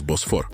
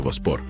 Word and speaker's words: Босфор: Так ось, перебираючись через Босфор або краще вимовляти воспор, сармати оселялися на Балканах і Апанінах, змішуючись з місцевим кельським і арійським, тобто ромським ніби циганським населенням.